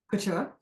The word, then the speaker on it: couture: Couture.